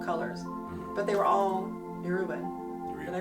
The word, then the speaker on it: Yoruba: Witches of All Colors, but they were all Yoruban. Did I pronounce it right?